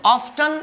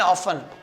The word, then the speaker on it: often: ऑफ्टन एंड ऑफन, दोनों ही pronunciation सही आप देखें डिक्शनरी में।